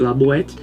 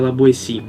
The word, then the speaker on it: La Boétie: é um escritor francês Então escreve labet mas você pronuncia laboe Pelo menos foi o que eu vi na internet e era uma recomendação